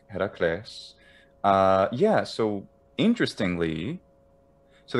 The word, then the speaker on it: Heracles: name is this iraquis heracles for an addict pronunciation classical addict heracles uh yeah so interestingly